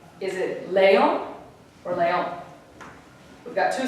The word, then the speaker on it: león: It's on the last syllable, right? It's not on the second to last syllable. Here's the word. It's divided into two syllables. It's not león, and it is león, however.